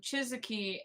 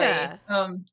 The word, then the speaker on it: Chika: But I really like that Chizuki, I might be saying her name wrong, keeps teaching Oh, the boy. Chika.